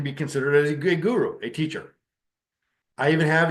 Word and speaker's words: guru: removes ignorance the word guru is a Sanskrit word it is to syllables goo and Ru and those syllables separately